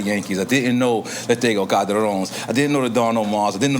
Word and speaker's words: Ganador: And how you pronounce it? El Ganador? Ganador, yeah.